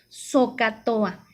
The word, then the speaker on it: SOHCAHTOA: La palabra se pronuncia de la siguiente manera, SOHCAHTOA.